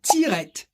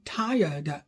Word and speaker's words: tired: Donc voilà pourquoi on ne dit pas tirette. I am tirette. No, I am tired.